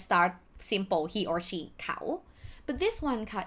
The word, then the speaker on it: เขา: But let's start simple, he or she, เขา But this one ค่ะ if you pronounce with the vowel sound long, it will be ขาว which mean white.